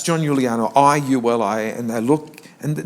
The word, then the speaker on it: Giuliano: Matter of fact, nobody could pronounce it. It was Iliano, Luliano. Even to this day, I got no. We go to hotels where we've booked, and it's John Giuliano, I-U-L-I, and they look, and no, there's no Giuliano here.